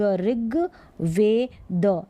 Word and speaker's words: ऋग्वेद: यह री, आधा ग, ऋग, वेद, ऋग्वेद, ऋग्वेद।